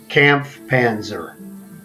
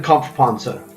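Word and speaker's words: Kampfpanzer: it's a it's a camp panzer but in german comp ponza is the correct pronunciation so tier ix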